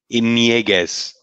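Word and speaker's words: Ñíguez: Inieguez. Yes, nye, not it's an nye. That's the sound.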